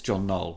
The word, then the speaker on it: John Knoll: I got the gentleman's name wrong. It's John Knoll.